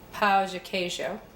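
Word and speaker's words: pão de queijo: And I think in Brazil it is pronounced Pao de queijo.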